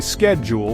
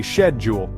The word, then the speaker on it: schedule: of the pond schedule Americans say schedule while Brit say shedule aluminum in the US